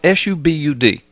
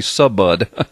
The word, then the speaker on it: Subud: deeply tied to a cult called Subud, and it's spelled S-U-B-U-D. It looks, in English, it would look like it would be Subud, but it's pronounced Subud.